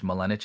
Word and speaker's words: Malinich: Malinich is how you say it, like spinach.